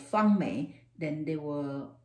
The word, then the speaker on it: Fang-Mei: need more clarification if i use my name called fung me then they will say